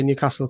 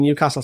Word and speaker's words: Newcastle: Yeah, because he was saying everybody in Newcastle says Newcastle. Brandon, how do you say Newcastle? Me? Newcastle. Just like Carl, how do you say it, Carl? Pardon? How do you say it? Newcastle. Yeah, it's more better. Whereas I think it's more of a London thing, isn't it? Where they go Newcastle.